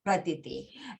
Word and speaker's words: Pratiti: In my native tongue, Gujarati, my name is pronounced Pratiti.